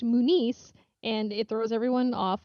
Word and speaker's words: Muniz: a different name but it's pronounced differently so a lot of people will all the time call me Munez okay yep kind of like Frankie Muniz and they're like oh are you related and like no mine doesn't have a thing over the end and whatever yeah yeah so it's pronounced Moo nice and it throws everyone